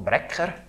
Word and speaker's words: Martin Bracker: Alors si vous voulez le prononcer comme il faut, ça se prononce Bracker. Mais Bracker, c'est bon aussi.